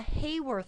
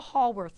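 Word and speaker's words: Haworth: structure we draw is what's called a hayworth structure or a hallworth structure depending on your pronunciation.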